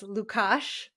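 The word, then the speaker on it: Lukáš: bit pasta aside from how to pronounce Lucas's name as lukash you know a little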